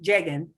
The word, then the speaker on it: llegan: But see, you said it perfectly correctly, llegan, with the right sound, but to spell that sound, it needs to be G-U-E.